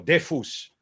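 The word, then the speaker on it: דפוס: Allora, tfus o defus, según la pronunciación justa sefaradí verdadera del hebreo, defus es un nombre masculino.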